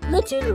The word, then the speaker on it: Litten: Litten rhymes with kitten.